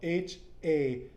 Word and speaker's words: hacer: the last class, where when there's an H in Espanol, the H is siempre silent, Mm-hmm. right? Like you never pronounce the H. So in this case, it's spelled Hacer, which becomes hacer.